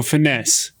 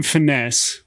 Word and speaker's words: finesse: when you type in finesse what you get is f upside down e apostrophe nes so with that i was